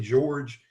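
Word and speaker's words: Georges: Like if you remember Hurricane George, it had a pronunciation a little bit different. It was spelled like George's, but it was that was a flood event.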